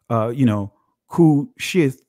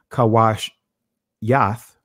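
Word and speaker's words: כושית: Now you'll see it says, Kushith. All right. So I'm going to, again, deal with it from a ancient Hebraic pronunciation, which would be Kawash Yath.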